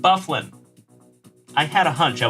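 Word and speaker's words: Byfuglien: several Draymond Green ah John bang it is pronounced bufflin I had a hunch I was murdering that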